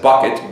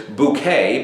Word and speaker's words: Bucket: It centered around the main character, Hyacinth Bucket, B-U-C-K-E-T, though she insisted the proper way to pronounce her last name was Bouquet, because that made her look and sound better.